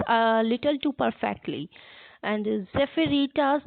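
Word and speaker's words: Zephyretta: or if you are wondering what i am pronouncing the word is that e p h y r e double t a zephyrita which means a breeze and the task of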